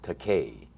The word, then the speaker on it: Takei: last name it is it's pronounced Takei and its high Takei which is a pronunciation that many people choose to make but I tell them that's alright that is a legitimate Japanese word spell tak AI that translates into English as expensive so if they want